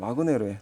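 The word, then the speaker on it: Вагнер: 일본에서는 바그너를 와그네르 이렇게 표기하고 있는데 실제로 뉴스 영상을 보면은 러시아에서의 발음은 와그네르에 더 가까워 보입니다.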